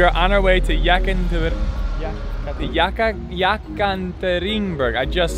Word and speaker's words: Yekaterinburg: We are on our way to Yekaterinburg.